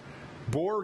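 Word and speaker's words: Boer: They're the same breeds, which is a boar, B-O-E-R, boar goat, which is a meat goat.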